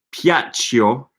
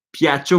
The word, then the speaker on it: Piaccio: Piaccio. Okay, this is silent I. I always forget about the silent I. Piaccio molto Piaccio molto ai miei.